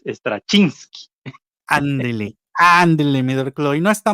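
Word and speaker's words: Straczynski: lista de cómo pronunciarlos stasinski Creo que creo que es lo pronuncian stasinski pero creo que aprendimos que es estra chinski Ándele Ándele mi no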